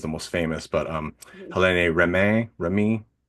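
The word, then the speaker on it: Hélène Rémy: Helene Remy. If I'm reading it in the as an American, her name is Helen Remy, but that's certainly not how it's said in French.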